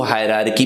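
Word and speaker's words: hierarchy: अब इसमें लोग इसको हायरार्की भी पढ़ते हैं यूजुअली। दूसरा आर साइलेंट होता है, लेवल्स ऑफ हायरार्की कहते हैं इसको।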